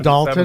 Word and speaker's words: Dolton: Page 3, Food I think for it's Less, pronounced Dalton, $107.99.